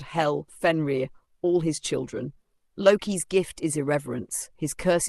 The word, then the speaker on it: Loki: Loki, pronounced lay, is not evil.